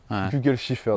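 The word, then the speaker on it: Kugelfischer: voitures française avoir une injection mécanique gole Shiffer Google shifffer ça se prononce comme ça d'accord voilà absolument tout mécanique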